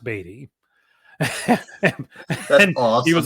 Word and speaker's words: Beatty: And my co-host got a message from Scott saying it's pronounced Beatty.